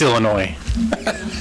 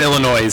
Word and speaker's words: Illinois: No, you don't pronounce the S in Illinois. It's Illinois. Not Illinois.